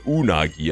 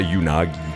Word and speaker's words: unagi: It's pronounced unagi. I see. Gotcha. Not unagi.